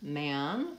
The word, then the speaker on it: man: Man, vowel a, but that same spelling in the word woman is the vowel schwa.